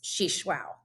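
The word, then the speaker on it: Xixuaú: took me a while to learn how to pronounce she shwao but that is the correct way to pronounce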